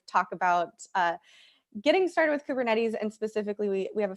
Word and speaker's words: Kubernetes: Is that how that's pronounced? - Oh, Kubernetes.